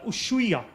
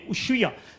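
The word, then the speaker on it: Ushuaia: city called uh uh usua it's spelled as us h u i a usya now this is generally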